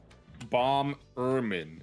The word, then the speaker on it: Bomberman: Bomberman is how you say it. Yeah. No, not bomb. B-O-M, bomb, and then Berman.